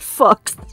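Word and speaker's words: Fuchs: It's spelled F-U-C-H-S, but I'm pretty sure it's pronounced Fox.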